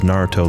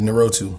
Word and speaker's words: Naruto: if Michael B Jordan gets on YouTube and pronounces Naruto like a idiot favorite anime is narotu shapin because at least it opens up the